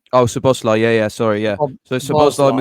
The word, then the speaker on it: Szoboszlai: It was Gravenberch, McAllister, and Soboleski, is it? I can't pronounce his name. Oh, Szoboszlai.